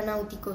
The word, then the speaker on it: náutico: Yo creo que la palabra náutico sí lleva tilde. Sí, porque tiene un diptongo. En la primera sílaba es nau.